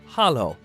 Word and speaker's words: halló: Hello in Icelandic is pronounced halló.